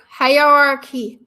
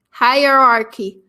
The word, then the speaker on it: hierarchy: out hi hi r hierarchy i have trouble with this one because in french the word is super similar but pronounced completely different and my brain wants